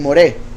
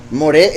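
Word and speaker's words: מורה: uno diría morada moral pero la pronunciación cambia y se convierte en moret que básicamente viene siendo maestro el que instruye la torá de su instrucción moré el que instruye entonces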